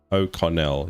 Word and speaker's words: O'Connell: Con, not cone. O'Connell. What did I say? Cone. O'Connell.